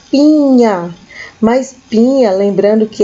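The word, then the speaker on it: piña: a nanana banana Pinha Lembrando que o n confio sim em cima tem o som de NH então a gente fala Pinha mais Pinha Lembrando que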